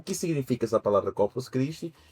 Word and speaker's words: Corpus Christi: o próprio nome diz corpus criste, né? Essa é a pronúncia séria. Corpos criste. Tem gente que fala corpos crist no final. não tem esse no final é Corpus Criste.